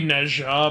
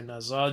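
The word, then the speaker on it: 哪吒: Honestly, with the uh black myth Wukong and the Neains, it's technically Neha, but it's easier to say Neza.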